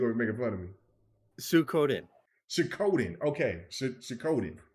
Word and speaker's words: Suikoden: Suikoden. Okay. Suikoden. Shododen or Suikoden?